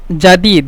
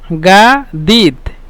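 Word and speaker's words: جديد: মানে এটা ভালো না জাদিদ জাদিদ মানে নূতন আর মিশরের ভাষায় জিমকে গয়ন বলে এজন্য বলি গাদিত গাদিদ গাদিদ জাদিদ মানে গাদিত তারপরে কদিম কদিম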